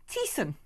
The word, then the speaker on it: Teston: And Teston, pronounced Teeson.